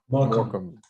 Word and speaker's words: Morecambe: Morecambe. Oh, okay. Yeah, I couldn't. Some of there's 2 silent letters in Morecambe. It seems like. Like I'm looking at it's more. Yeah, more Camby. So the B's silent.